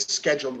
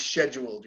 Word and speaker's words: scheduled: as the British pronounce scheduled yes hey yes they think okay that's that's a British North American difference scheduled is British scheduled